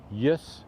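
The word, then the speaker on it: jes: Yes is yes, but with a J instead of a Y. So phonetically, more phonetically spelling, because yes sounds like it should be J-E-S in English, but we all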